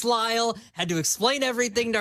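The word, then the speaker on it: Lisle: It's spelled Listle, but it's pronounced Lyall. Had to explain everything to her. She goes, "You guys must be really popular in Lyall, Illinois."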